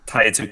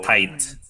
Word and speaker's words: Tite: Hindi It's Tite. just spelled wrong. No, because it's spelled like it's like Americanized romanization. So Oh. tight. Yeah, tight. Tight.